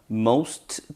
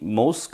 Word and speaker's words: most: most convenient. 여기 연음이 most convenient 되겠죠? t 발음 없습니다. 자음 부딪혀서 앞자음 contraction 되었죠?